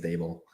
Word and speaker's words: Daboll: I think it's Daboll. It's kind of like table. That's what I was told.